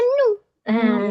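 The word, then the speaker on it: 눈: Dibacanya un un di depan juga bacanya nu. Nah, di depan N gitu ya. Maka kalau sem gabung di atas ada, di bawah ada, maka akan dibaca apa? Nun.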